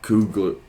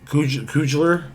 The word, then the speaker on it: Coogler: but the director uh Ryan Cougler Coug can't pronounce that last name, can you? Uh Ryan Coogler.